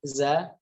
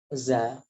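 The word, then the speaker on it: ز: Padahal perlu diketahui bahwasanya za itu sama sekali tidak keluar anginnya.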